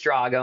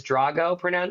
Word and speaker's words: Drago: Drago, but that's okay because Rocky 4 is Drago, and it happens to be one of my favorite movies. Russian is Drago pronunciation, and Drago for the Sicilian, which is me.